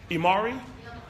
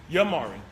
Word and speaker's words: Yamari: Imari? Yamari. I say it right? Yamari. Yes, ma'am.